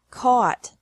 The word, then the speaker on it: caught: Catch, caught, caught. Fight, fought, fought. Seek, sought, sought. Teach, taught, taught. Think, thought, thought. Remember that the G is silent in these verbs.